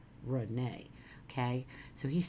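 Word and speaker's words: Renée: My name is pronounced Renee, R-E-N-A, but it's spelled R-E-N-E-E with an accent on it, but it's pronounced Renee, okay?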